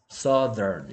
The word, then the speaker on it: southern: Southern 이렇게 발음합니다. 일단 TH가 바람만 붙는 소리에서 목이 떨리는 소리로 바뀝니다. Southern 맞습니까?